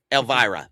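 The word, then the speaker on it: Elvira: You know, you got or how do you pronounce her name? Vampira. You know what I mean? Elvara. Um Elvara.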